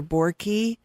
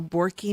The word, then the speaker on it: Boericke: Well, you could get a homeopathic materia medica, and that is by Borky makes, Dr. Borky has a homeopathic materia medica. That's spelled Boericke. So Borky materia medica.